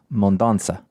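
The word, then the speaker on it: Mendonça: Well, actually, the little Side on the C would indicate that it's a soft C sound, so Mondonza.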